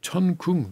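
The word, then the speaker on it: 천궁: Tian is the word for heaven. Yeah, heaven. And in the Korean pronunciation, that is a chun. And palace, of course, is in Korean is kung. So this is a chun kung.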